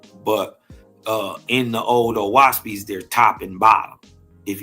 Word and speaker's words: Oahspe: Oahspe is pronounced O as in o'clock, Ah as in father, and speak as in speak.